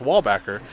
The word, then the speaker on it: Wallbacker: was like and no that's not my last name is pronounced wallbacker so i got yelled